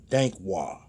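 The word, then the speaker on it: Dankwah: Dankwad, D-A-N-K. I think that's Dank. And W-A-H. It's Wah. Dankwad.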